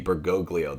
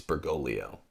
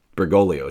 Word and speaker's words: Bergoglio: People pronounce that second G, Bergoglio. That's wrong. It's Bergoglio. You don't say Lasagna unless you're joking. It's Lasagna, right? Bergoglio.